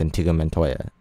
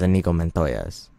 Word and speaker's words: Inigo Montoya: challenge me to a duel my name is antigua Montoya I said it wrong my name is what is his name and t go men Toya's forget I know it's an ego my name is Inigo Montoya's you kill my father prepare to die I